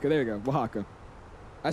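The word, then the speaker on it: Oaxaca: Yeah, Wajaka. There you go. Wajaka.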